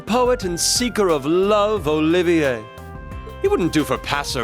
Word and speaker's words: Olivier: am the drifting poet and seeker of Love Olivier it wouldn't do for passer by to mistake